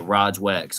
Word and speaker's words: Rog Wax: Yeah, Rog Wax.